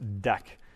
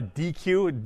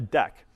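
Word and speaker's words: deque: called a deck right and again this is pronounced deck it's spelled d e qu e so it's not a it's not a DQ DQ would be D and then the full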